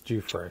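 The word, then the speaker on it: Giuffre: to say her name again i think it's due for right that's right it's hard right g-i-u-f-f-r roberts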